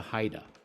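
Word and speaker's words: HIDTA: we had were this first off what's a Haida people want to pronounce it hia let go it's actually pronounced Haida and then what is the national marijuana initiative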